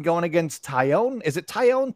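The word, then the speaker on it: Taillon: Is it Tyone? Tyone. Yep, Okay. Tyone. I've heard it pronounced all the different ways.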